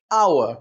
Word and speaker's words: hour: Let's take the word hour, which begins with an H, but the sound is like a vowel.